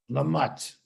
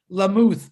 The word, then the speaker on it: Lamott: Thank you, Richard Lamott. Did I say it right? I got it. I always, it looks to me like Lamuth, but if it's Lamott, I'll call you Lamott.